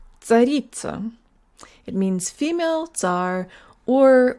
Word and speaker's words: царица: It's not tsaritsa, like we might say in English. English has a lot of secondary stresses, so to the Russian ear, it sounds like almost every syllable is stressed.